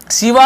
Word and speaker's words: शिव: शिवा, powerful यानी शक्तिशाली शिवा, शिवा यानी शिव, तो ऐसे शिवा रामा ऐसे लिखते हैं, लेकिन एक्चुअल में शिव ऐसे इसका उच्चारण होता है, तो शक्तिशाली शिव है